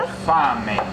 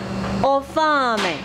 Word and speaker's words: Ho fame: Ho fame. Ho fame.